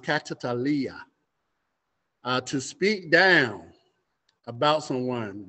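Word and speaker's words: καταλαλιά: It's pronounced katalalia.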